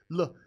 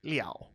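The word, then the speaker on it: 了: on the roof, because Le is always fifth tone. Now, this character can actually also sometimes be pronounced Liao, and that's its secondary pronunciation.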